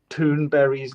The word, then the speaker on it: Thunberg: To me, it's very upsetting that people mispronounce Greta Thunberg's name. Thunberg. Right? Now, there are plenty of people who are also called Berry at the end of the name. It's Berg, Berry, it's the same thing.